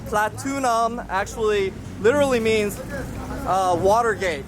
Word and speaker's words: Pratunam: what's a bit confusing about this place, because Pratunam is not platinum, but we call it platinum. And the confusion too is there's a wholesale mall over there called Platinum Mall, and we assume that Pratunam is just how Thais mispronounce platinum, but it's not.